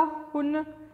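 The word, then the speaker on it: Hun: गोंडलिया, उत्पला, हुन या कुटुंबी? हुन या हुना, जैसे आपको प्रोनाउंस करना है आप प्रोनाउंस करिए। द करेक्ट हेयर इज हुन या हुन्स भी इनको कहा जाते थे।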